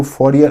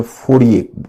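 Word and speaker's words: Fourier: फ फरियर यह है इसको फरियर अंग्रेजी में बोलते हैं हिंदी में फय बोलते हैं फ प्रोनाउंस होता है फ चार्स फय और रॉबर्ट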